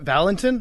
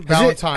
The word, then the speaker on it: Valentine: he is, the inventor of the rap, Bobby Valentine. Okay. We now welcome on a very special guest. It is Bobby Valentine. Valentine. Why did I just screw that up? Valentin. Valentin. Valentine.